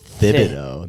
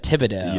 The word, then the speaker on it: Thibodeau: Pronouncing the TH as Thibodeau. That was crazy. Instead of Thibodeau.